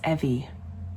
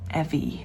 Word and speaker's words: Evi: Evie cuz I'm always usually wrong with my pronunciation. I'm sorry. But regardless of that, look at this. I don't like that. It's Evie. Evie.